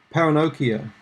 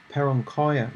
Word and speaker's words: paronychia: Paronychia, or paronchia. There are different ways you can pronounce this.